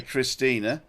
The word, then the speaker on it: Christine: If you want to say Christina, then it's C R I S T I no A I N E. Because she spells it Christine, even though she pronounces the E.